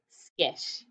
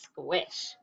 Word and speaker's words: squish: squish how'd you do sometimes i see people that think the quake sound is a k sound but that would say skish the word was squish okay spell it away